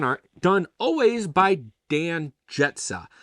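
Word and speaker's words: Grzeca: Artwork, the can art, done always by Dan Jetsa. I believe I pronounced that right. It's spelled different. It's spelled G-R-Z-E-C-A, but I did a little snooping on his Instagram, right?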